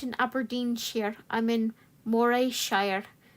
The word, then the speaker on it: Morayshire: aberin here I'm in morayshire pronounced Murray Shire like sir Andy Murray your dream is to